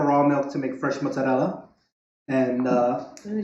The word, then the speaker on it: mozzarella: Because I was looking for raw milk to make fresh mozzarella. And ooh, did you hear the pronunciation on that bad boy? Mozzarella. It's the tongue roll. The It does it for you.